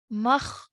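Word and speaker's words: مختوم: So in pausing, this word will now be read as makhtum. Okay, so you still pronounce the waw mud, but now you just add the sound at the end because of the meme sakin.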